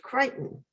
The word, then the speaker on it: Creighton: bill among them were the creightons pronounced crichton walter senior and his